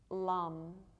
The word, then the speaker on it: lam: muladhara chakra the root chakra is lum l-a-m and so while we're